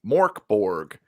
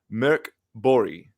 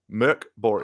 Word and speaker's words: Mörkborg: this is called for Americans, it's Morkborg. For those that can pronounce it, it's called Mörkborg. Mörkborg.